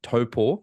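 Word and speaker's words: Taupō: hosting the 70.3 World Championships next year in topor I know the correct way to pronounce it now you are you know you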